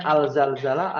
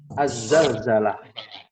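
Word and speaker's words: الزلزلة: ya buum terjemahannya saja itu dibacanya alzalzalah atau azzalzalah ya bukan terjemahannya ya terjemahannya tuh kadang mengecoh Ya sudah dilihat dalam al-qur'an ya azzalzalah ya Naam berikutnya apa namanya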